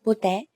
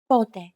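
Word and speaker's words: πότε: that i should stress be careful that the accent goes on the first syllable pote if you put the accent on the second syllable for example pute it won't make much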